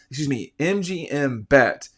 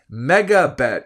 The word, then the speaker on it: MEGABET: Use the promo code MGM Bet. I'm saying it wrong. Mega Bet, MEGA Bet, Mega Bet, and get